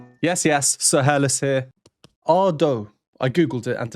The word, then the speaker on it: Ado: Ado. I googled it, and apparently it is pronounced Ah-dough and not Ah-doo.